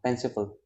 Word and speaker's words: fanciful: It's full, not full. It's not full. It's not oo. It's a sound. Fanciful, fanciful. Okay. So exact pronunciation is fanciful.